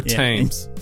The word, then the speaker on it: Thames: well yeah Darla's qrr taught us how to correctly pronounce the River Thames yeah there's a river times you're maintained you there's